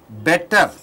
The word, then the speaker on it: better: Then any other word computer? Better. T is changed into D. Better.